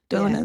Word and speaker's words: Donna: Donna, that's how you pronounce it.